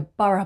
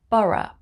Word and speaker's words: borough: name boro like the borough market it's pronounced borough bora number 24 it's mobra